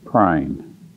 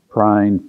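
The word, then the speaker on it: Pruyne: front of it, because if you spell it and look at it, it's prune, or prin. And actually, it's Prine, P-R-U-Y-N-E.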